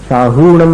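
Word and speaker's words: साहूणं: लोए और सव साहहुणम साहूंम में ह में जो उ है हु उसको दीर्घ बोलना उसको शॉर्ट शॉर्ट में नहीं बोलना जल्दी नहीं बोलना नमो लोए सब साहूम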